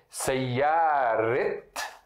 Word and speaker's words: سيارة: Então vai ser assim, Sayyaret, vai ser a pronúncia, o tá marbuta vai ter a pronúncia de letra T.